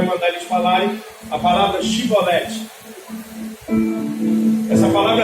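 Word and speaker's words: שיבולת: era o povo inimigo, eles não conseguiam pronunciar o SH, que era o hebraico. Então, ao invés de eles falarem Shibolete, eles não conseguiam, e eles falavam Sibolete.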